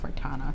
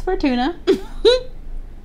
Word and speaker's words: Fortuna: a little downtown La Fortuna. Fortuna. Is it Fortuna or Fortuna? It's probably Fortuna. Sorry if I said Fortuna. That was a whole video. It's Fortuna.